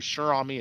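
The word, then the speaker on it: Cher Ami: You got to check out that story, Shirami. It's spelled Cherami.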